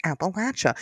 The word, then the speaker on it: Appalachia: So if you ever forget, now you know it's Appalachia. And and we know this because the name Appalachia comes from a very distinct tribe in that area known as the Appalache tribe.